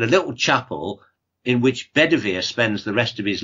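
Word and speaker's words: Bedwyr: of the Aran stories bed is name is pronounced bedir and bedwear in Welsh comes from a word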